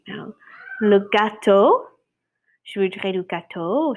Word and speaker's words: gâteau: Le gâteau. Je voudrais du gâteau au chocolat, par exemple. It's a cake. Un gâteau. It sounds just like cat in Spanish, but it's spelled like this.